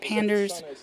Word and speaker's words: Panders: Bernice Panders is a combination of Bernice because of Bernie Sanders, and of course Panders because it rhymes with Sanders, and because it's a panda combination of my regular panda username.